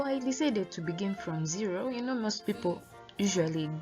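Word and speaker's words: zéro: of the e ho and the r in french is pronounced as a ho please not notice the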